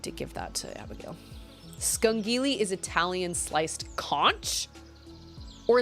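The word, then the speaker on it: scungilli: shoot i need to give that to abigail skunkily is italian sliced conch or is that spelled or is that pronounced conch it's pronounced skungili okay so i had it right i had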